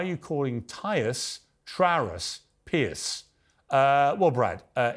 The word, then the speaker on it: Piers: you calling tyus trus Pierce uh well Brad uh it's Tyrus for one not tyus it's not trus I never said that and it's Pier not Pierce so you were three